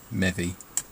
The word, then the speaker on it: Mevi: So I then changed the E to an I to have the same pronunciation, but a spelling that people could recognise as Mevi.